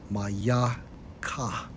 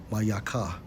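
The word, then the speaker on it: מִיכָה: And to give a brief description regarding Micah Strongs H43:18 pronounced as mayaka mayaka.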